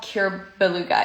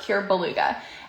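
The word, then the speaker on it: Cuir Béluga: And I said, I'm probably going to butcher how you pronounce it, but I think it's called Cure Beluga. It's spelled C-U-I-R, Cure Beluga.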